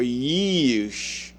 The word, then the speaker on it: Jeush: And the sons of Jeush were Timah, or Euish, or Yeush. Sometimes they change the name because they can't pronounce it themselves. And Alva and Jeheth. It should be Yetheth, or something to that effect. The J wasn't there at that time.